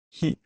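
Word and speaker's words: へ: However, this is the other particle that has a different pronunciation. When it's a particle, it is pronounced as e, and this is used for, I guess, direction.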